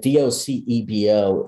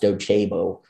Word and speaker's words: Docebo: i'm just going to help people here quickly d-o-c-e-b-o is pronounced docebo and most people say docebo um and uh